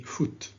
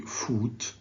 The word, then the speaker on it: foot: this is carbon footprint please say foot don't say food say football say put wood okay so it's a